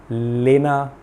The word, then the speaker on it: LENA: Parlour, unisex parlour का नाम था लेना यूनिसेक्स पार्लर। मतलब मेरे अंडरस्टैंडिंग में LENA, लेना, डाउनटाउन में एक बहुत ही पॉपुलर पार्लर। लेकिन वहाँ के लोग उसको प्रोनाउंस कैसे करते हैं, लीना यूनिसेक्स पार्लर।